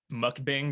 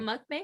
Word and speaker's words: mukbang: saying it right now is it mukbang or mukbang i would just thought it was mukbang it's like bang yeah mukbang okay yeah